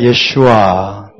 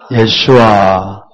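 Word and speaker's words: ישוע: 중요한이 친구들은 히브리어로 하면 굉장히 좋습니다 히브리어 원래 발음이 때문에 자 함께 볼까요 예슈아 예슈아 마시아 마시아 바라면 어 목 뒤에서 가래를 듯이는내는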